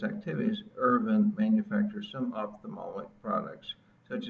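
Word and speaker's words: Aravind: Now let's take a quick trip to India and check out the Irvan eye care system's medical activities there. Irvan, that's spelled A-R-A-V-I-N-D, was established in 1976 by Dr.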